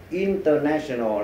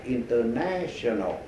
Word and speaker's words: international: Thí dụ như vậy, mình nhấn mạnh vần thứ ba national. Thì khi mình đọc là international là mình đã nhấn mạnh vào đầu là mình sai rồi, bây giờ mình sửa lại international.